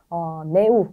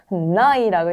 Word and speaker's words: neu: 네, 그래서 네우 이런 게 아니라 나이라고 읽는 거 I 발음 주의해 주시고요.